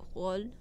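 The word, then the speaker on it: Rolle: Okay, so apparently there is a rich person school in Switzerland in Roll. I'm just gonna pronounce that Frenchly because I don't really know Switzerland Roll.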